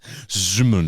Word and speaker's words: Szymon: Simon is spelled SZYMON. Zimon.